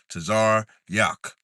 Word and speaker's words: Tazar Yak: The Tazar is connected. So the Tazar and the Ra is connected. The Ya and the Ka is connected. So it's two sounds. Tazar Yak. That's how you say my name.